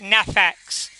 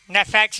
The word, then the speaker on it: Neffex: stay strong it's by a guy called it nephex neffex is spelled n e f f e x November